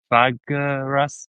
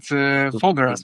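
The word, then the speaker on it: Făgăraș: it wrong here, but it was Tatas and Fagaras. Is that Yeah, right? Tatra Mountains and Fogaras Mountains in Romania. Fagaras. Yeah.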